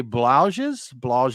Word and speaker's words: Blaugies: I'm going to say this name wrong because I don't speak the freaky deaky Dutch, but it's Brasserie de Blauges. It's Blaugies, but that's a collaboration with Hill Farmstead Brewery out of Vermont, and this is called La Vermontoise.